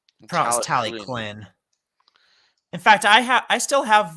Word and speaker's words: Talyllyn: I always thought it was Talyllyn when I was a kid, but it was pronounced Talyllyn.